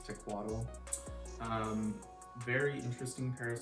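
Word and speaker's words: Tecuatl: from spring summer 2020 which was tequatl i think that's how you pronounce it i never have heard it said by anybody who could trust know what it's actually called i believe it's tequatl um very interesting pair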